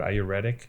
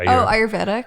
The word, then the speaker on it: ayurvedic: the IRS how do you say that word ayuretic oh ayurvedic ayurvedic yeah those guys those ayurvedic dudes with